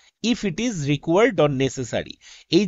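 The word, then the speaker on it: NASA: দা ঠিক আছে কিন্তু নাসার আগে দা ঠিক নেই কেন কারণ নাসা আমরা একবারে উচ্চারণ করছি আমরা এন এএস এ এইভাবে বলছি না তো তার আগে আমরা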